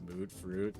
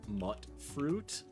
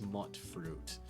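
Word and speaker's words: mutfruit: comments did tell me the correct pronunciation is uh actually mut fruit uh because there's no real vow that makes that ooh sound it's mut fruit and I have to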